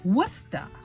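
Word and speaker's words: Worcester: problem with spelling like this word it is wusta it is pronounced or spelled with chester so tada we'll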